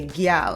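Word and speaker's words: gyal: That seems very country American, but in the Caribbean, we say gal and we spell it g y a l. It's gal and it's with our accent.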